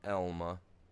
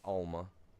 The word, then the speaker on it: Elma: Here in Elma, Alma, pronounced Elma, not Alma. Elma.